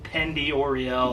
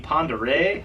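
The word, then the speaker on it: Pend Oreille: talking about because it's it's spelled like pendi Oreo or something I mean I probably sounded like a knucklehead the first few people I asked about the lake and they're like finally somebody was like you mean Ponderay I'm like don't tell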